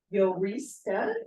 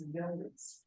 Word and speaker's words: Jorista: And I'd like to introduce Yorista. It's spelled Jorista, but the J is silent, so it's Yorista.